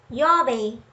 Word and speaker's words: 曜日: Yobi is a single expression which means day of the week.